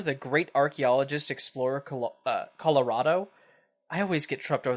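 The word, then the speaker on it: Kolorado: great archaeologist Explorer uh Colorado I always get trued over that I want to think it's it's pronounced differently but it is just like the state Colorado with a K with a K he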